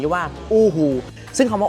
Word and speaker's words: UHU: อู้ ฮู ซะ เลย สรุป สั้น ๆ ก็ คือ แบรนด์ นี้ เ เขา ชื่อ ว่า อู้ ฮู แต่ ถ้า เรา จะ ออก เสียง ว่า ยูฮู เหมือน เดิม ก็ คง ไม่ ติด อะไร หรอก เดิน ห้าง อย่าง